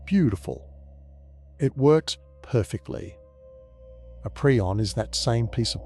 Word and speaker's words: prion: We call it a prion, pronounced P-R-E-on.